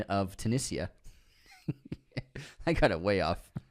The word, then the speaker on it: Tunisia: Magdalenian Productions unsubscribing for the pronunciation of Tunisia. I got it way off. Oh, yeah, you were like Tessinia.